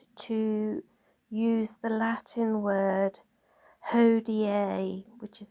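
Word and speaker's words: hodie: It's also recommended to use the Latin word hoda which is spelled h o d i e which is actually usually on his iconography and it means today.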